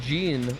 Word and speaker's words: Jean: I'm very very curious I originally learned you pronounce Jean like John now you're cursed with